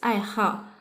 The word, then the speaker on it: 爱好: Before we learn this character as the third tone, right? But when we say about hobby, it's pronounced as the fourth tone. So it's 爱好.